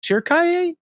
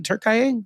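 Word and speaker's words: Türkiye: causing a real stir in Turk Turkay. Is that how Turkay? Is that how they're saying it these days? Ben, I thought it was still Turkey, but just spelled different.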